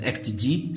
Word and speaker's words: X-Tigi: have the xtg Inspire 3 and yes it's pronounced as xtg so you're welcome anyway a couple of months